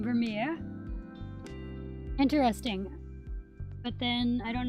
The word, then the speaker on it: Vermeer: that like pronounces words it says that the american pronunciation is vermeer you guys probably won't be able to hear it because i don't want to make it too loud accidentally but yeah it says vermeer but it does also have oh just a british pronunciation i'm surprised it doesn't say dutch or something since i guess that might be where it's from okay british pronunciation is basically the same vermeer interesting but then i